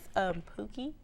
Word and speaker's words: Pookie: how do you pronounce that? It was made so long ago, but it's Pookie.